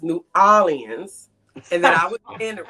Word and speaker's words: New Orleans: was saying it wrong he said it was not New Orleans it was New Orleans and that I Wasing